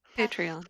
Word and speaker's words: Patreon: I don't know how you pronounce that either. Patreon.